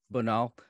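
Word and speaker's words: Bonald: Bonal.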